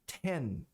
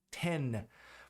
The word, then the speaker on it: ten: Esse N tem que ser pronunciado como N. Você coloca a língua no céu da boca e pressiona contra o céu da boca. N. Ten.